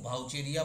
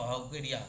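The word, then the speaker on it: Vaucheria: চলরেণু, ভাউচেরিয়া বা ভাউকেরিয়া যাই উচ্চারণ করো, তার চলরেণুতে দেখতে পাওয়া যায়।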